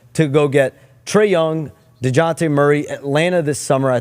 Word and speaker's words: DeJounte: When they went to try to get DeJounte Murray, when you try to go get Zach LaVine. Is that how that's pronounced? DeJounte Murray.